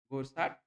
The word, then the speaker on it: Goursat: So we can call it Cauchy Goursat theorem. Okay, some say this is silent, so Goursat, you can say Goursa, Goursat, because T is silent. But many times we say Goursat also.